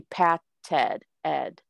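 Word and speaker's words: patted: now this one you this one is going to pronounce the ed because we have our base word is and this is the only time that you will hear the e the base word is pat but to creep with these types of words when you double the letter to add the suffix then you do pronounce the e so this will be pat ted ed so you were correct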